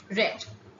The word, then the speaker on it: read: v3 forms all of them are spelled as r e a d but the v one form is uh you know said as read and the v two and v three forms are uh pronounced as red okay here the correct